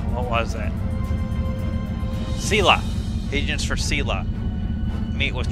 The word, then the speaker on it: Sela: I know how to pronounce her name. What was that? Sela.